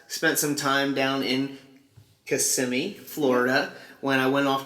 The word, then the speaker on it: Kissimmee: from kissimmee florida uh not kissing me a lot of people will say it wrong it's kissimmee florida uh you don't need